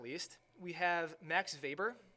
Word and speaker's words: Max Weber: not least we have Max Weber even though his name has a W he's German so we pronounce that W as a V he was a German